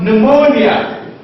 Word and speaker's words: pneumonia: it can also be by P in this case the p is silent just like g is silent here you have pneumonia pneumonia pneumonia and so on